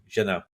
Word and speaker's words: Jeunet: You don't pronounce T's in the French language, so Jeunet.